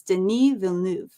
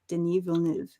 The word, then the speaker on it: Denis Villeneuve: um I have looked up how how you pronounce his name and I can say it it's Den Vu Den Vu Den vu Den Vu a little bit of